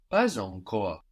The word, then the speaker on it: pas encore: Pas encore or pas encore. Here we have an optional but very common liaison.